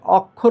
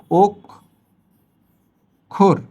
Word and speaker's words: অক্ষর: অক্ষর বলি তো আমরা হবে না। কি হবে? এই অ এর পরে খিও আছে। সুতরাং অজ ইকুয়ালটু ও। এইভাবে হবে। এখন হবে ও খোর।